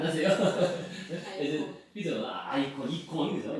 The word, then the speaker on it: 이콘: 이콘, 그죠? 이콘은 이제 그쪽 발음으로 이콘이라.